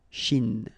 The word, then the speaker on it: Chine: Remember, don't insist on the E. Chine. Okay? And then this CH, sh, Chine.